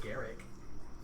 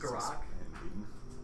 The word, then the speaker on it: Garak: Pretty sure I said it wrong, but I thought it was just Garrick. no. Another Garrick? No, I said it right. The Garrick versus Garak. Garak.